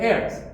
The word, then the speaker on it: heirs: 자, 근데 그 다음에 and their heirs. 요 H가 묵음입니다.